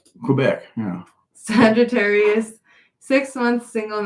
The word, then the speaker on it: Quebec: old Canada cuc how do you say that cubec Quebec yeah Sagittarius six months single now and my